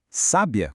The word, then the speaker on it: sábia: Sábia com acento agudo no A é uma mulher inteligente.